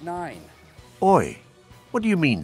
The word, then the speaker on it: IX: I thought this map was called XI. No, Joe, you dummy, it's pronounced 9.